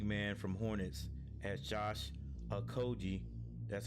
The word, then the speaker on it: Okogie: Suns grab big man from Hornets as Josh Okogie.